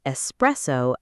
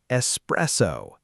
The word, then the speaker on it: espresso: A lot of people, even native speakers sometimes say espresso, but the correct pronunciation is espresso. Espresso. No X.